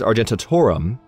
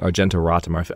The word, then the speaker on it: Argentoratum: But this is Argentatorum. I might have been saying Argentoratum. I feel like that's the way I was reading it in my mind, at least.